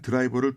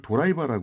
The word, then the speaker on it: 드라이버: 예 콘크리트를 공이라고 얘기하고네 나사를 죄는 드라이버를 도라이바 하고 있고 어 화물칸을 꼬리처럼 연결하는 화물차 트레일러를 출라라인 우리말처럼 발음이 다양하지 않아요 그래서 일본식으로 발음하면 그렇게 되는데 근데 우리는 발음을 할